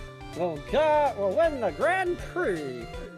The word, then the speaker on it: Grand Prix: God will win the Grand Prix even though it's spelled Grand Prix but I'm not gonna say prick but I'm not a